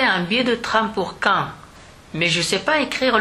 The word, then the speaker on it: Caen: Et ça se prononce comme le mot Caen pour poser une question, qui lui s'écrit Q-U-A-N-D.